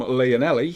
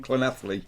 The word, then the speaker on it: Llanelli: The men's international series, if it was talking from your side of things, is coming from Leonelli. Come on! But from my point of view, it's definitely coming from Llanelli.